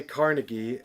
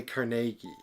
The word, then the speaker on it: Carnegie: well actually uh so the americans say carnegie and the scottish say carnegie okay so i'm wrong